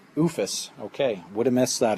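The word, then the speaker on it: OOFOS: A couple of different brands to choose from if you want Under Armour, or how do you pronounce that? OOFUS. OOFUS.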